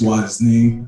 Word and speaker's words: Wasni: You pronounced it right. It's Wasni. Hi, everybody.